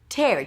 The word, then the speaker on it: tear: And then it's pronounced with an e sound. Tear. It's a t sound and e. So drop your jaw and bring the tongue up for the R only at the end. Tear.